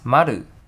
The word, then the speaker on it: Maru: What's special is that Maru is not how the brand pronounced in Mandarin. It's Maru in Japanese.